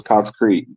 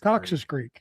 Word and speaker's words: Cox's Creek: When you put the creek in there, so it's Cox Creek. See, we don't add the extra S, if you will, Cox Creek. Jeff over here likes to add an extra syllable, so he said Cox's Creek, like almost like what is that, tailbone?